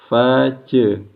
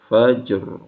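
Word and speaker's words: فجر: Fa kemudian qalqalah huruf jimnya atau jim sukun, bacaannya bunyinya j. Fajr. Pastikan bunyinya j. Kemudian roknya tebal karena sebelumnya sukun, sebelumnya fathah. Matla'il fajr. Fajr ya.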